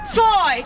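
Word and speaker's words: Tsui: name is toy that's t-s-u-i pronounced toy and i am an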